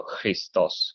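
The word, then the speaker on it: Χριστός: foreign speaking uh the he in modern Greek pronunciation is kind of like the CH and law like a Loch Ness monster so Christos but we it's a lot more natural for speaking English as I say Christos it's more natural for other languages like German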